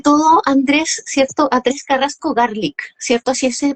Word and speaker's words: Garlick: Atrés Carrasco Garlic, ¿cierto? Así se pronuncia tu apellido.